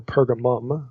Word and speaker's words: Pergamum: a a place specifically in pergamon or pergamum okay you see it pronounced either way and spelled either way in verse 13 so